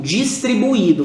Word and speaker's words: distribuído: aqui tá escrito distribuído qual é a pronúncia da palavra distribuído distribuído faltou um assento perfeito não é distribuídos de